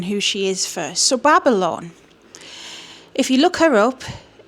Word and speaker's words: Babalon: So yeah, Babalon is somebody.